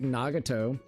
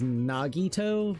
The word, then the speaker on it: Nagito: There was uh it's like Nagato. I everybody like his actual name is Nagito, but I like calling him Nagato to be quite honest.